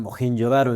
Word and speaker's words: Mohenjo-daro: Estaba viendo el que hay una película india que se de Bollywood que se llama Mohen Yodaro y justamente le llaman Mojen Yodaro, ¿no? Por eso sé que así se pronuncia porque pues estaba todo